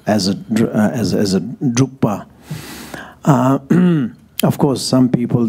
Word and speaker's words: Drukpa: as a title as a as as a drupa uh of course some people they just can't pronounce very nicely so they call it Dr drba they call it drka so you know there little bit of different